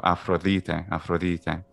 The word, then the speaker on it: Aphrodite: the delta also starts to become a fricative as well a little bit like spanish the the or any way of the same sound in english so afrolite and then changes into